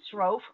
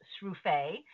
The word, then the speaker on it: Sroufe: today that it's pronounced Sroof, which rhymes with loaf. And all these years I thought it was pronounced Sufi, which rhymes with sule.